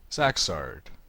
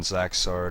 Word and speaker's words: Zaxzarrd: And after an entire Abbott and Costello routine of mistaken identities, it turns out that this is Zaxzarrd, spelled differently but pronounced the same, who is the brother of Zaxzarrd the deceased.